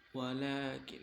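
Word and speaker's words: وَلَٰكِن: Walakin la, nah itu di atasnya walakin, ada atasnya huruf lamnya itu ada kayak fathah tapi tegak, nah itu panjang bacanya, tapi nggak panjang banget tuh.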